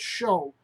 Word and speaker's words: shew: So when I see Shew, I'm reading it as show because it is show. And at that time, it would have been said show.